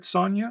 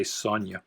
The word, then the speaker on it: Sonja: Now, is that the first Red Sonja? I don't think it is. I pronounced that Sonja as a kid. I didn't know the J was silent or pronounced kind of like a Y.